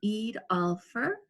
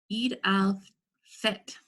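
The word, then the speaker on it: Eid al-Fitr: to share a story called Rashad's Ramadan and Eid Alpher Eid al fit sorry I was practicing how to pronounce that - it was written by Lisa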